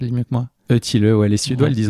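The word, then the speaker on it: Ötillö: Donc ça s'écrit Otilo, mais ça se prononce Eutilleux. Oui. Dis-le pour toi, tu le dis mieux que moi. Eutilleux, ouais.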